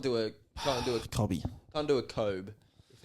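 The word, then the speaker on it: Kobbie: who you thinking long surely you would call yourself Kobe but it's not spelled like Kobe is it k o b IE no what is it k o b i e oh so it's cobby double b you can't do a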